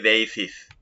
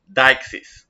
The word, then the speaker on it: deixis: one notice the pronunciation please do not say theis it's dxis as it is written phonetically here phonically here okay what is it